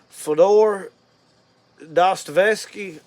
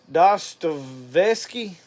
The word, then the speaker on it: Dostoevsky: So for those of you that don't know, this is Fyodor Dostoevsky. I guess is how you say it. Dostoevsky.